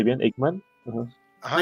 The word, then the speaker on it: Eichmann: ¿Lo pronuncié bien? ¿Eichmann? Ajá. Ajá, Eichmann.